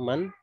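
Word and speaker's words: مَن: apa ini Min atau Man ya Ini bacanya Man ya bukan Min Bagaimana caranya Caranya adalah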